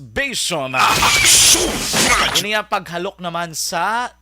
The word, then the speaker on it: basium: Ang isa mga kaaksyon ning Basium or B-A-S-I-U-A-I-U-M or pronounced as Basium.